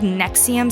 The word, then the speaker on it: NXIVM: me just say that anything called nexium spelled nxivm is already trouble because i had no idea how to pronounce those random letters together until i watched the documentary on hbo but i'm getting ahead